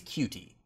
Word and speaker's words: Coutee: I believe it's Cutie.